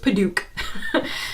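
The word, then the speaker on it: padauk: if I remember right, it's spelled like Paduak, and I wasn't sure, you know, is it Paduak? Apparently no, it's just Paduak.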